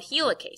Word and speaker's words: helicase: and unzipping is called helicase sounds like the word helix because it untwists the helix helicase does this it